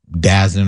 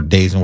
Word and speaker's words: DAZN: I think Jake Paul was going to be on Dazen or Dazen, whatever the name of it is.